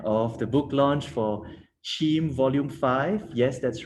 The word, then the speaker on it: CIIM: to the end of the book launch for sheem volume five yes that's right that's how you pronounce c-i-i-m-chim which in singlish means very complicated